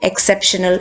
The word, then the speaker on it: exceptional: Exceptional. 1, 2, 3. Sep ഇവിടെ വരും.